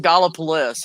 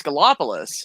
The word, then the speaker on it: Gallipolis: They pronounce it Gallipolis, I think. And I said, no, it's Gallipolis. And they're like, no, it isn't.